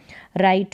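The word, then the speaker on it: write: लिखना तो यहां पर डब्लू जो है ना राइट में यह साइलेंट है वी वी भी बहुवचन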